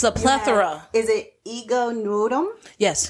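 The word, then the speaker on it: Ego Nwodim: Is it Ego Nud?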